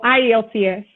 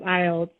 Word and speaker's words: IELTS: So IELTS or IELTS, it's pronounced both ways. It's fine if you want to pronounce it as IELTS or IELTS.